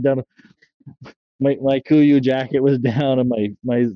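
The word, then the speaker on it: Kuiu: Kuyu? Kiwi?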